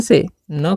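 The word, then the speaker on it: soon: ओ एन ठीक है तो यहां पर एस का जो उच्चारण है हम दंत स करेंगे डबल ओ है तो दीर्घ करेंगे और एन से न करेंगे तो हो गया सून।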